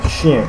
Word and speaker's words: chien: Okay, so and in the French language, whenever we have ch, it's pronounced as sh, not ch, because there is no such sound as ch in French. So it always sounds like sh, even if you see ch, it's sh.